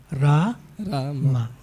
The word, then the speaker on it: Rama: Rama. First long A, then short A.